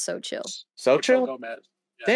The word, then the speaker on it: Xochitl: pronounced so chill. It's Yeah. literally pronounced so chill.